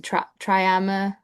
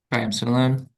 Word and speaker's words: triamcinolone: Just he was interested on your thoughts on status quo splinting, which you kind of gave, and I can't pronounce this injection, triama. Triamcinolone.